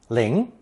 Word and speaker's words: 铃: It's pronounced second tone, ling, ling.